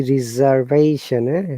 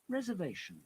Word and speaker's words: reservation: You can see reservation, reservation, and British English reserve, not reserve. Yeah? Let's listen to reservation. Reservation. You see, reservation. Excuse me. The S sounds like Z.